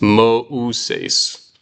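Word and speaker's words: Μωϋσῆς: What that is doing is it's splitting these vowels so that the author makes sure that you're pronouncing them different. It's Moses. So that diaresis, those two dots, they're splitting those vowels. There's 3 syllables.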